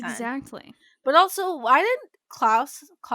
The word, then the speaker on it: Klaus: But also, why didn't Klaus, I said it right? Klaus. You said it right the first time.